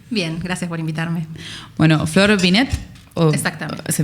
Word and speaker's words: Flor Vinet: Bueno, Flor Binet, exactamente. Se pronuncia así bien con la tilde, es psicóloga especialista en género y diversidad sexual.